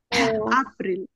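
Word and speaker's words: April: হুম, এটাকে এপ্রিল বলা যাবে? এটা এপ্রিল। আপ্রিল। এপ্রিল। আপ্রিল, কারণ এটার উচ্চারণ কি যার মানে আ। আপ্রিল।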